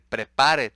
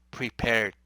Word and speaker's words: prepared: si no pueden pero no van a decir prepar para decir lo más cercano a prepared porque no hay otra manera de pronunciarlo Siempre vas a acercarte a prepared Ok no vas a